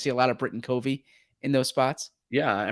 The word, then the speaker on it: Covey: And I say Covey, it's Covey. It's Covey. Yes. Cuhv. Covey.